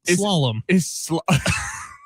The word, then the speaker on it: slalom: Not shalom. I believe that's a religious term. It is slalom.